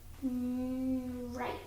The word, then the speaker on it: right: that trra trigraph IG and what happens with trigraph IG the GH is silent but did you mark the ey I can't see a mark over the ey it'll be long good and the word says right okay next word because